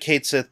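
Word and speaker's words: Cait Sith: sa uh again mispronunciations we always called it Kate Sith back in the days of the PS1 yeah I uh I think it's kaii but I I just call it K as well we'll find out when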